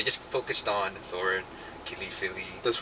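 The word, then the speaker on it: Fili: So they just focused on Thorin, Kili, Philly. That's right. Who's the other guy? We only know Philly because it rhymes with Kili.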